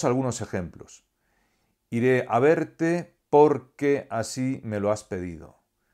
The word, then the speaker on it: porque: sin tilde, y además la sílaba tónica es la primera de las dos de las que se compone la palabra, con lo cual esto ya debería darnos una pista para no errar a la hora de escribir. Se pronuncia porque y no por qué.